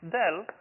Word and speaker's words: del: the Dell notation so this guy usually pronounced as Dell other than as you know pointy triangle going downwards or something like that